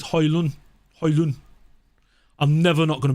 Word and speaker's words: Højlund: You know, it's a silent D. You're not supposed to say the D. If you listen to him ask how you pronounce his name, he says Højlund.